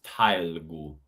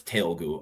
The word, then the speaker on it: Telugu: That comes out as tailgu. Tailgu. Can you put the form in here? I can do. Oh. It's not Telugu. It comes out as Telugu. I just mispronounced it the first time.